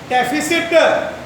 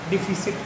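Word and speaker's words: deficit: डेफिसिट, डिफिसिट, इसे बोला जाता है डेफिसिट। क्या बोला जाता है? प्रोनाउंसिएशन भी सही सीख लो आप।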